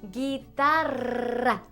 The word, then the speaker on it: guitarra: Guitar in Spanish is guitarra. That has the double R, which is a hard thing to learn to do in Spanish.